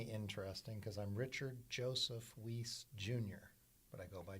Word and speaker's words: Weis: is a story uh the last name w-e-i-s is german and it used to have a second s on it and in germany they pronounce it and i believe the